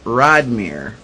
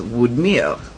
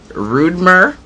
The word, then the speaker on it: Rodmyr: Anywho, it's spelled Rodmyr, and it is said in English Rodmere, and in Creole it is Woodmere.